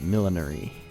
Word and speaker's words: millinery: headed to the old millinery millinery the old millinery millinery millinery millinery millinery i think is the british pronunciation but millinery is what we call it here so i'd be someone